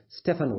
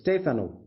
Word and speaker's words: Stefano: Now, Stefano is an Italian name, so you cannot pronounce it as Stefano. It's Stefano.